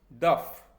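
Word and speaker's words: دفع: जिस तरह से सुब के अंदर हे प्रोनाउंस नहीं होता, उसी तरह किसी शब्द के आखिर में अगर ऐन आ जाता है तो उसको प्रोनाउंस नहीं किया जाता फारसी में, इसलिए हिंदी में इसे दफ़ा कहते हैं, लेकिन फारसी में दफ़।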